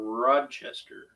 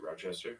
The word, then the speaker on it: Rochester: about a garbage plate how is it pronounced in New York roachester or rodchester what I say Rochester I don't know I'm asking some people say roachester some people say Rod but there's no D in it Rochester really I just